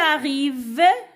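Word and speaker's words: arrivent: Il arrive, N-T à la fin, ce sont 2 lettres muettes, ne se prononcent pas, à midi.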